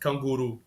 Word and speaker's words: canguru: So yeah, it's just kanguru.